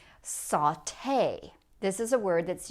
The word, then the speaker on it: sauté: But all these words are going to end in the sound A. Saute.